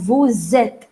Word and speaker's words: vous: Now, can you see, but I told you the pronunciation of VOUS is VOO. Then why am I saying it as VOOZ? Why am I saying it's VOOZ, VOOZ? From where the sound of S is coming?